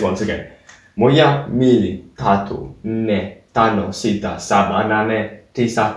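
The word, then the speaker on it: nne: 4, Ne. You see that N is quite strange because there's two of them.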